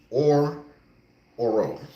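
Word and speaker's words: Orhorhoro: name Clemson defensive tackle Rook or ororo is his name I pronounced it right that time uh solid defensive tackle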